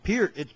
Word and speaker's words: Peart: guys were saying Neil Peart, and of course Eddie Trump was saying it's Peart. You keep saying it wrong.